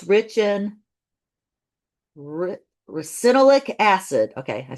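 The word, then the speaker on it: ricinoleic: It's rich in recinolic acid.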